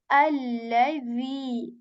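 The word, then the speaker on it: الذي: earlier as well, that this dhal is, not like the English alphabet Z, okay? This is a soft letter. We articulate it when the tip of our tongue, it touches the tip of our upper teeth very softly, very lightly, without, any whistle sound or buzzing sound, nothing like that. Just like allazi, the, okay? Allazi. Tabarakalladhi.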